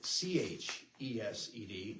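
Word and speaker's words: חסד: The Hebrew word for love is chesed. Okay, it's spelled H-E-S-E-D here. Oftentimes you'll see it C-H-E-S-E-D. It's in Hebrew, it's not just an H, it's more like a chesed sound.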